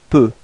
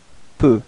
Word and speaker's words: peux: So for the first person, je, it's je peux. Repeat. Je peux. So actually you don't pronounce the final X.